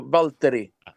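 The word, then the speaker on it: Waltteri: introduced a new drummer, Wateri. I think that's how you pronounce it. Maybe you can pronounce it. How do you pronounce his name? I mean, he's from Finland, so Valtteri.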